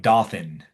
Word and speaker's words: Dothan: Looks like Dothan, but you pronounce it Dothan. Dothan, but it's Dothan.